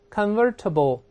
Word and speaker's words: convertible: 我们大声再读一遍 convertible convertible，读快了以后这字母 T 有个轻轻浊化成的这个声音。